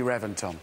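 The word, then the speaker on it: Reventón: No, I know it's spelt with a V, but it's pronounced with a B.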